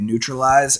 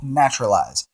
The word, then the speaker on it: Naturalize: to say it um most people say it neutralize it's actually called naturalize it costs two to